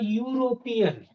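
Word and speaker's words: European: तीसरा example, he इज अ यूरोपियन। यहाँ ये ई जो है दिखने में दिख तो रहा है कि ये वॉवेल है ना? लेकिन इसका प्रोनाउंसिएशन जब हम देखेंगे तो कॉन्सोनेंट का है।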